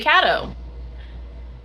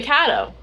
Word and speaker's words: Kato: So, we've been pronouncing cat as cat. We originally were saying ko years ago, but then we heard someone else say kado. And we're like, okay, we'll say kado. We're like, let's get to the bottom of this.